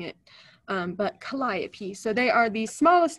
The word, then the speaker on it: Calliope: there so that hopefully I don't end up mispronouncing it but Calliope so they are the smallest North American breeding